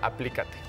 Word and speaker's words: aplícate: que la intención sea aplícate. Venga, ¿por qué me estoy trabando retrógrada? No está Mercurio, retrógrado. Sí está. Oye, bien, me gusta. Aplícate. Acento en la A.